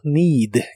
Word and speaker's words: need: Y usarás el verbo need, que significa necesitar. La doble E se pronuncia como una I larga o doble.